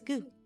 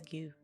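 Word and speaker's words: ぐ: This is gu. You pronounce this as gu.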